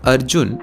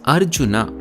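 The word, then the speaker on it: അർജുന: So this right here is not Arjun or Arjuna, it's Arjuna.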